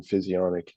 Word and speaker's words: physionic: yeah just type in physionic that's spelled like physio like you go to Physiotherapy and then Nic just tack those together and you got it it'll show up for